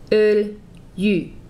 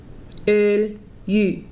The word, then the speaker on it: öljy: The first syllable is öl. The second syllable is y. Again, öljy, öljy. Together that sounds like öljy, öljy.